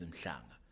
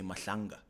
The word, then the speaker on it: Mhlanga: Like if someone's name is Mhlanga, they all will say Mahlanga.